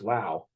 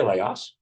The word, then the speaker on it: Laos: want to call it it's pronounced Lao but people say Laos yeah uh the Le